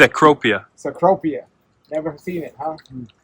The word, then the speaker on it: Cecropia: And it's pronounced cropia.